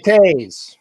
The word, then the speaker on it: Toews: Jonathan, what is it, Toews, however they pronounce it. Jonathan Toews.